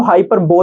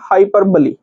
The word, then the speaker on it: hyperbole: जाए है ना देखो कहीं-कहीं इसको हाइपरबो भी बोलते हैं अगर आप Google पर सर्च करके और वहां स्पीक के ऑप्शन पर क्लिक करेंगे तो वो आपको प्रोनाउंसिएशन इसका बताएगा हाइपरबली ठीक है तो आप